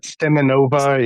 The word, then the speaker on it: Simonova: How do you pronounce her last name? Simonova? Simonova, yeah.